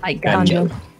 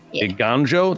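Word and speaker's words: Eiganjo: I don't know how to pronounce that. It is Restoration of Iganjo. Iganjo, there you go, which gets a lore on it.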